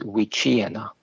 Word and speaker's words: wichina: and by the way the pronunciation of the word is wichina thank you so that ch is a cha and i don't know